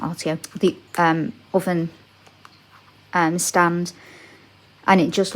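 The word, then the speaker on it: Овен: of the two um the word's pronounced oven but it means Aries um the breath of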